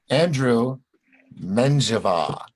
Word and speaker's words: Andrew Menjivar: the magic buttons click down ladies and gentlemen Andrew Menjivar I still said it right right yeah yeah